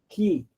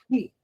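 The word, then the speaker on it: χῖ: O Ki, maiúsculo, Ki, talvez seu professor tenha ensinado Ri, mas disse, não pronuncie Ri, não, que é difícil. Pronuncie Ki, né?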